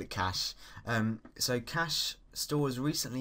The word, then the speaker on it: cache: So, um it's important to uh realize that this is pronounced cash, not cashache, not uh catch.